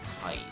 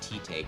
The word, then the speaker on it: Tite: I used to pronounce the mangaka for Bleach, his name is Tight Kubo, but knowing how they typically, you know, write things out in Japanese, I think his name would actually be pronounced Tite Kubo.